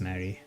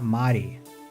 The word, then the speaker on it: Mari: Her name was Mary. Was Ma Mari. Her name was Mari, not Mary. Let's say it like that.